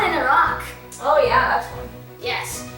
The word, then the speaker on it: Iraq: And it's the same thing with Iraq, which is commonly pronounced Iraq instead of Iraq.